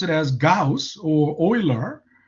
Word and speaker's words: Euler: one of them is oiler it's not pronounced euler you know some people you learn uh yeah i mean you know it looks like euler but uh ah it